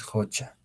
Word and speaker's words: hucha: profesor Cuál es la en la escritura hemos dicho es con la u la escritura correcta solo la pronunciación es jocha bien muy bien no